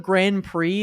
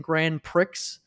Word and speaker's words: Grand Prix: know oh like for instead of Grand Prix they kept saying Grand Pricks and I'm like Pricks